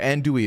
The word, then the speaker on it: andouille: I've been saying andouille to my fucking nutritionist and she has not corrected me either. So I've just been saying it wrong for, and like, how many of you know this? Is this just common knowledge that I didn't? Anyway, all right, andouille it is.